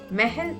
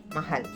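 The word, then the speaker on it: महल: a matra for example this word will be pronounced as mahel by a native As of now, you need not worry about this. As you are a beginner, it is nothing wrong even to pronounce this word as mahal.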